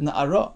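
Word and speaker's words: נערה: It's spelled Nun Ayin Resh. We read it Na'ara as though it would have it hey at the end, but it doesn't actually have the hey.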